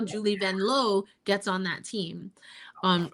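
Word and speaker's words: Vanloo: That's how Julie Vanlow gets on that team. um or if we're in the states, which we are, Julie Vanlu, but uh Vanlau is how you say it.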